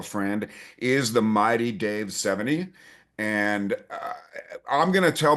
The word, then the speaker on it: Sevigny: but my my home, my family, we say 70. Okay. And yeah, over the years it's been with the G as well. I've used to say it that way, but just once my kids came into the world and um our household, we say 70, which is a which is a correct pronunciation.